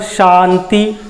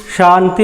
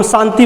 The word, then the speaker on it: शांति: अब जैसे हम बोलेंगे च, छ, उसी प्रकार से शांति, शांति बोलेंगे। अब हम शांति बोल दिए दांत से, शांति, तो गलत हो जाएगा।